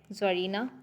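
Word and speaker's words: czar: एंड टेस्टाट्रिक्स, ज़ॉर, ज़रीना। ज़ॉर basically रूसी शहनशाह को बोला जाता है, यहाँ पे सी साइलेंट है।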